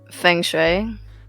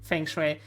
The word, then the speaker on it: Feng Shui: So it's not that I don't believe necessarily in how it's pronounced. Please help me out. Feng Shui. Feng Shui.